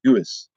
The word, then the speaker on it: Deus: Spell that. How do you say that name? Doos. Deus.